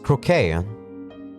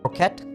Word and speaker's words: croquette: This croquet. Croquette? Croquet? I think both pronunciations are correct.